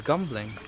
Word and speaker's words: Gembleng: I thought it was gumbling like with a gu. It's gambling, but they pronounce it gum.